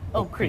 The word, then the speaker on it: Oak Creek: Just don't pronounce the first K. Oak Creek.